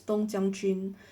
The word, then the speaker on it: 冬将军: Um, in Chinese these same characters are pronounced as Dong Jiang Jun, carrying the same literal meaning winter general.